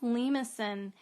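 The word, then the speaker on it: limaçon: to remember it's a lemuson it's spelt like a lima bean it's pronounced lemusin and um i found out that it was french and it's a french word for snail so i guess you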